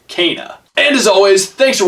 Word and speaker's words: Kena: pronounced that way because i definitely thought it was going to be kenneth or kena it's kana and as always thanks